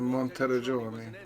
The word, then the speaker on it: Monteriggioni: In Monteriggioni, that's how you say it.